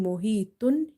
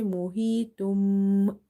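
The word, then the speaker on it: محيط: So instead of saying mohitun, you will say mohitum by doing gunna, nasalization. Mohitum bil kafirin, bil kafirin.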